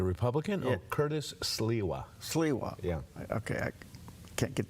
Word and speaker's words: Sliwa: Sliwa.